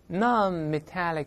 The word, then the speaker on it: non-metallic: 注意不要读 non，好多同学受到中文影响，一读就是 non，中国有 non non try，那 non on 舌根不能动，non non 再来一遍，non-metallic minerals。